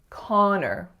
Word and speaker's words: Connor: Two syllables. That first syllable is that ah sound, as in John. And the second syllable is a bit sneaky because it looks like or. So it looks like Connor, but we don't say or, we say So the name is Connor.